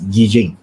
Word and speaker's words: Yi Jing: Some people regard this as I Ching. The proper pronunciation here is we pronounce it as Yi Jing, right? Yi Jing, yeah.